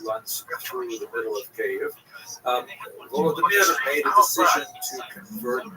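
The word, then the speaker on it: Kyiv: they centered around the city of Cave. That's the Ukrainian pronunciation, by the way. It's favored today because of course Ukrainian is the dominant language in the country. But it used to be called Kiev, which is closer to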